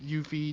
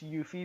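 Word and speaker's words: Euphie: Brotherhood alright yeah and that's spelled e you pH ie 23 like euphoria in that sense yeah I feel like if you say just you fee people are gonna think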